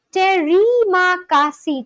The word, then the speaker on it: terima kasih: The pronunciation is terima kasih.